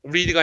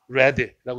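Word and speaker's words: read: 과거는 발음이 살짝 틀리지. 리디가 아니라 레드라고 읽어야 돼.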